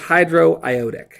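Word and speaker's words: hydroiodic: close really close Hydro you put one extra syllable in there it's just hydro iotic hydro iotic acid now there are many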